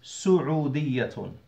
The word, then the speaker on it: سعودية: وكما تسمعون as you lot can hear أنا أؤكد على ضمة السين. I emphasize the dhamma on the sin. لأن البعض ينطقها بالفتحة. Because some, they pronounce the sin with a فتحة. وهذا خطأ. And this is a mistake.